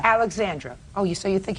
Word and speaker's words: Alexandra: Audrey and uh Alisa he's saying his the oldest daughter's name wrong and it spell wrong also a l e x a n d r i a no I there's no I it's Alexandra Alexandra oh you so you